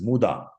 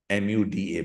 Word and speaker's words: muda: we call Waste as muda m u d a muda this know as identifying muda pronounced as muda written as muda but you know I will go with the Japanese pronunciation muda motion any necessary